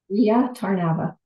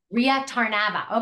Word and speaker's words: Rea Tarnava: pronounce your name Ria is it tarnava or tarnava how do you say the accent I like Ria tarnava Ria tarnava okay there we go thank